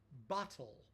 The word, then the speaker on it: bottle: Bottle. I'm saying it with a non-American accent. Bottle. We don't we don't pronounce the t's as t's, we pronounce them as d's.